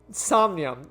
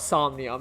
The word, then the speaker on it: somnium: So I'm going to call it somnium because I'm assuming that's how it's actually pronounced. Because you say insomnia or an insomniac.